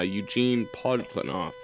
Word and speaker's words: Eugene Podkletnov: though he and I have been in contact, Gene Putklinoff. I just want Oh, to make sure I yeah. got that correct, right? Yeah, well, there are 4 or 5 pronunciations. Yeah, Eugene Podkletnov.